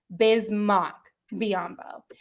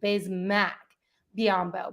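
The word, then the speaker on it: Bismack Biyombo: to a 10-day contract had it pronounced bismarck biambo and since then all the way until the game the second time we played utah last wednesday that's when it was updated to bismack biambo but i didn't catch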